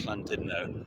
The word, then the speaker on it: Llandudno: your tongue, and also when there's a U in Welsh, it tends to be pronounced as an I, hence Llandudno rather than Llandudno, and other such rules there.